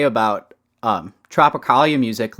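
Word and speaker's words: Tropicália: on spotify or like streaming yeah can you pronounce the name um can i uh it's tropicalia uh panet panes at which is actually um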